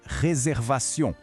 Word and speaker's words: réservation: » Le mot le plus important ici, sans aucun doute, est « réservation ». Prononçons-le très lentement. « Reserva. » Remarquez le son « R » français que l'on prononce avec la gorge et la terminaison en « aution » ?